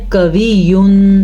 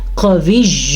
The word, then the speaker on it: قوی: موٹا قاف ادا کرنا ہے. اکثر لوگ پڑھتے ہیں قوی، نہیں، آپ نے کلیئر کرنا ہے قوی عزیز.